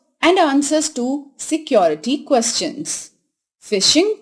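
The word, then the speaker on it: phishing: answers to security questions fishing pronounced like the word fishing occurs generally in the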